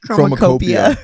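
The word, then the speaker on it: Chromakopia: And also How do you actually pronounce that? Chromacopia.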